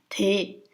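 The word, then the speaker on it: དེ: The first one, so it's a letter ta with the vowel sound e, so it becomes te.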